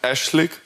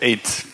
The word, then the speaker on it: aszlig: If you are in Germany, in German speaking, you will pronounce it aszlig. Aszlig. Yeah, aszlig. And then if you're English speaking, the pronunciation correct is eight. Eight.